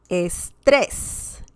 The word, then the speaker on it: estrés: For example, estrés, estrés. And we can see that we need an accent mark because the word ends in S and there's some stress on the last syllable, okay?